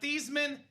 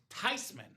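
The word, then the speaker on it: Theismann: It's not Thesman. It's not Thyman. It's not Thman. It is Tyman. It's a German name.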